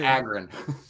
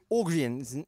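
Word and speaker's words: Ågren: I always say Morgan Agren. Ogrien. Ogrien. A with a circle on top. It's an O sound.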